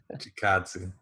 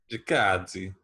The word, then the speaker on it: Chikadze: Why don't you pronounce it? Giga Chikadze, come on. Giga. It's kind of Italian sounding, right? Nah, Chikadze.